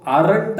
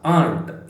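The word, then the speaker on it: aren't: ಆಂಟ್ ಆಗ್ತದೆ ಆಂಟ್ ಆಯ್ತಾ ಸೋ ಆರಂಟ್ ಅಲ್ಲ ಆಂಟ್ ಇದರ ಉಚ್ಚಾರ ಆಂಟ್ ತರ ಆಯ್ತಾ ಸೋ ಆಂಟ್ ಇಲ್ಲಿ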